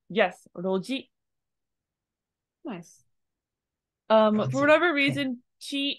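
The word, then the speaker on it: 路地: So rather than chi, it's actually pronounced as ji. Yes, roji.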